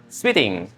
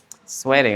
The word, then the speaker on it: sweating: Sweating. Oke, that's good. Jadi bacanya bukan s ya, bukan s tapi swe s.